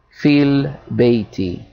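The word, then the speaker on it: فِي البَيْتِ: And whenever we have a preposition coming before the word, we're going to assimilate, because this is a hamzatul wasl, and that goes over this alif. It is not pronounced, so we'll say fil bayti.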